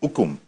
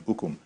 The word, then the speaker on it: Ukum: Apparently, there's been some sort of a crisis in Ukum, if that is the right way to pronounce it, in Ukum, back in your home state.